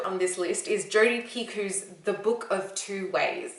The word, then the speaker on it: Picoult: book of two ways i don't know if it's piku or pea cult like yakults anyone drink those they're super gross don't drink them they're bad let's go with pig because i've heard it pronounced a couple of times like that on booktube book of two